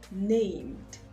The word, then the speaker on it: named: So of course you know that it will be pronounced with a d. The ed there will be pronounced as d. Named, named.